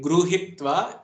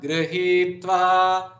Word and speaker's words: गृहीत्वा: It Arya should be noted here that it should not be gruhitva, it should be gr, as you say in Krishna, so that r should be explicitly pronounced. It's not gru or it is neither gri. Okay, so some people generally tend to make that mistake. It is mohad grihitva, mohad grihitva.